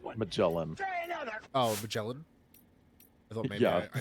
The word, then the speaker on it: Magellan: I was just being a shit, and I was doing that thing I do where I make Whoa. soft G's into hard G's. Magellan.